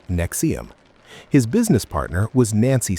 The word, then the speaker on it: NXIVM: In 1998, Keith co-founded Executive Success Programs ESP, which would later become known as Nexium, pronounced Nexium.